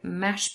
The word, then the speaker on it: mashed: So, mashed potatoes, if you say it fast, the t in mashed disappears.